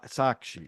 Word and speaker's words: Sakshi: her name was uh uh I want to pronounce it right because I never do uh wait I got it here s sakshi right yeah sakshi and she was lovely but